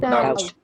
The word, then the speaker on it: doubt: Doubt. Doubt. Doubt. Okay. And which letter is silent? B. Letter B is silent.